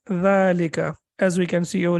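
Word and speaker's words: ذَٰلِكَ: It is written as dhalika and pronounced as dhalika, as we can see over here, and there is a hidden like alif over there.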